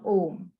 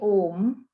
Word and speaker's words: Om: So you break it up into 3. So it sounds like ah, o, ah, o, So I'll demonstrate.